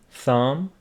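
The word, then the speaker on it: thumb: like WR writer wrist B after m is not pronounced Thum lamb Lim we talked about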